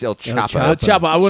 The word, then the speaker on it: El Chapo: ELO you Sayo it's El Chapo Chapo I will not you have to pronounce the h you pronounce the h yeah in Spanish you pronounce the h oh you do yeah